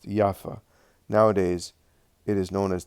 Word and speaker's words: Jaffa: This town was later called Jaffa, pronounced Jaffa.